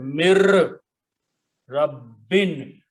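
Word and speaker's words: مِن رَّبٍّ: together in the tajweed, then we do not pronounce noon, but we pronounce ra with a shadda.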